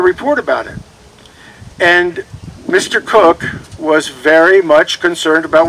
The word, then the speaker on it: Coke: talks about edward cook his name is spelt c-o-k-e it's not coke it's cook he started practicing law